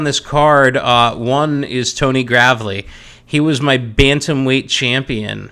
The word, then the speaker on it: Gravely: It's not Gravely, it is Gravely.